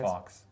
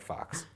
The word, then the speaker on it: Fawkes: I don't know how it's pronounced. F-A-W-K-E-S. Fox. I think Fox.